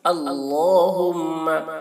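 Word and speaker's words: اللهم: وقت پڑھے، اللہم بک امسینا، اور دعا کی تلفظ پہ دھیان دیں، اللہم، اللہ کا لام پر ہوتا ہے، اللہم بک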